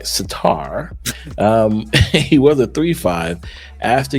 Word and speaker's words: Surtur: So now, Satar, let me say it right, Satar, he was a 3/5.